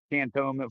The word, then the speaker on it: Cantonment: It's not cannon. It's like can can you say it right? Tone the tone of your voice. And then meant I meant to say that and tone and I meant it.